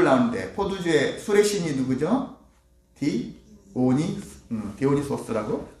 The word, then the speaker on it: 디오니소스: 디오니소스라고? 소스가 맞나요? 네, 디오니소스.